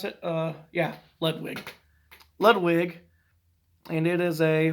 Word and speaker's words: Ludwig: Is that how you pronounce it? Yeah, Ludwig.